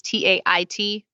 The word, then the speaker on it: Tait: Tait is Tait.